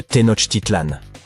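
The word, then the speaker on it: Tenochtitlan: Il s'agit de Tenot Titlan. Les villes Maya ont généralement des noms difficiles à prononcer comme Yaak Shilan.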